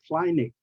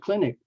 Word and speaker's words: clinic: funny I hear people pronounce word like kinic kinic and limit instead of clinic and limit I don't know where